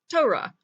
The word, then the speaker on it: Torah: tough hole involved race comets hey tow rah Torah and that's all the letters of the Hebrew